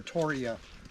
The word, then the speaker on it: Torreya: over here too Bonafide Terraria trees or Toria as some people do pronounce it Toria yeah I'm sure that's